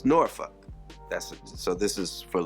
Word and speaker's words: Norfolk: to Virginia do this thing and it's in noruk Virginia that's how you pronounce it it's not Norfolk it's noruk that's so this is for later on in